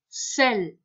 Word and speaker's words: sel: On va apprendre très prochainement qu'au milieu d'une syllabe, quand il y a le E, il se prononce E. Retiens, sel.